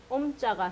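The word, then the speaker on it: ཨོཾ: 미음 받침이 요거 변화한 형태인데 미음이 합쳐져서 아자랑 오자가 만날 때 이게 탈락이 되거든요. 그래서 옴 하고 된 겁니다. 그래서 옴자가 생기기 이전에 요걸 날려준 아자 형태라고 외우시면 됩니다.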